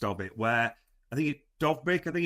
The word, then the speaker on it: Dovbyk: They even tried a striker swap at the last breath almost of it, where I think Dovbyk, I think it's pronounced, the Ukrainian forward at Roma, was going